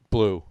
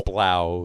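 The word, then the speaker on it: Blauw: But Guten Carolus from Head Anchor, Cuvée Van de Kaiser Blue, Blau, Imperial Dark, it's Blau. Yeah, that is pronouncing that properly.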